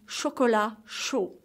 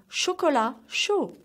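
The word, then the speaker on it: chocolat chaud: the fifth drink is chocola show so the T is silent of shkolla and McGee of show so one more time shkola show winter can be downright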